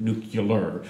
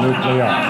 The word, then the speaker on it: nuclear: and build these weapons use the word nuclear rather than the correct pronunciation, nuclear.